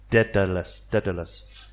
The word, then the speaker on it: Daedalus: I tried to go through IPA, which is the International Pronunciation Alphabet, to get the accurate pronunciation of that, and it's an ancient Greek thing, so it's not going to be easy, but it's something like the E and bet, B-E-T, bet, so it's Daedalus, and these two, the